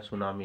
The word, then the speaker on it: tsunami: उसी प्रकार से जो सुनामी शब्द है वो जापानी भाषा का शब्द है, TSUNAMI, इसमें टी साइलेंट रहता है, सुनामी, है ना।